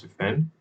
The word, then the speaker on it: D3FEND: So yeah, but apparently it's pronounced defend, and it is a knowledge graph of cybersecurity countermeasures, and it's funded by the Cybersecurity Directorate of the NSA.